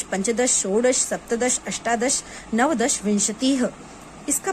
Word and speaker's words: विंशतिः: पंच, षट, सप्त, अष्ट, नवदश, एकादश, द्वादश, त्रयोदश, चतुर्दश, पंचदश, षोडश, सप्तदश, अष्टादश, नवदश, विंशतिः। इसका प्रोनाउंसिएशन याद रखिए, विंशतिः।